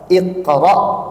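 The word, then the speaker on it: اقرأ: alalaq Allah mengatakan apa Iqra bismibbik q itu Hamzah di ujungnya itu bukan Ain Adapun surah alqariah itu Ain bukan Hamzah Dan kita pun harus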